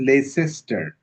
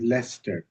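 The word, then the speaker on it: Leicester: R I used to think that it was less cester until I came to know that it was less. So L E I C E is less and t is t. So it's two syllables and whereas my spelling pronunciation urged me to make it three.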